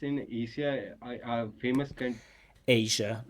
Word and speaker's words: Asia: I was surrounded by the forest, and it's in Asia, a famous country Asia, not Asia. Asia has a j sound.